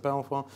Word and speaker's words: Belvoir: a lively debate on the pronunciation of Belvoir is it sort of beaver is it sort of Belvoir but if anyone wants